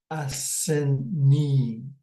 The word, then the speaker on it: asinneeg: Okay, and then when it is plural form, we say asinneeg. Okay, so asinneeg, asinneeg. So that would be more than one rock, asinneeg.